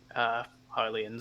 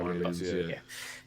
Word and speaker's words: Hylians: With PlayStation also sending out have fun up there, Hellions. I think that's how you say it. Hylians, I think. Hylians, yeah.